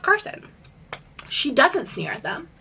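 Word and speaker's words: Karsyn: normal girl name but it's spelled weird it's spelled k a r s y n but I think it's pronounced Carson she doesn't sneer at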